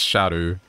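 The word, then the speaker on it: Scadu: anymore after learning that SCU is meant to be pronounced Shadow or Shadow like no I'm good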